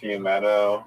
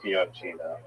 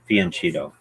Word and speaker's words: fianchetto: Yeah, Fiumetto, like Fumeto. I've only heard Dogfish, the YouTube channel, say that. Most people say Fianchetto. Okay. Yeah, Fianchetto.